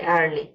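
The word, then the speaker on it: early: যেমন ই এ আর, আর এল ওয়াইলি, আর্লি। এখানে ই এর পরে এ আর আসছে, এখানে ই এর উচ্চারণ আয়ের মতো হয়েছে।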